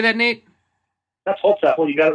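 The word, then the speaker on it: Holzapfel: That's Hosefel.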